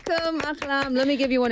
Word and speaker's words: Ahlam: This is Ahlam. Did I say it right? Yes. Yay! Right. Welcome, Ahlam.